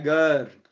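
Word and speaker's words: גר: Del hebreo, la definición del vocablo hebreo ger. Y se pronuncia ger.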